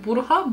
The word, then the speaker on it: bruja: Yani Bruja, Bruja diye yazılıyor. J'ler H diye okunuyor İspanyolca'da.